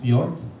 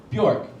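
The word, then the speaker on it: Björk: It is pronounced Bjork. Bjork. Bjork. Bjork. No. Bjork. Bjork. Not Bjork. Bjork. Sounds like what I do after I have too much gin.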